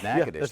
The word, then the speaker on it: Natchitoches: You got the name of the town pronounced right. Natchitoches.